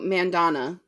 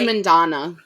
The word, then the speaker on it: Mandanna: I think it's sangu Mandana Mandana Manda Mandana Mandana Mandana Mandana it's long vow I think it's Mandana she's Indian so I would assume it's long we have done our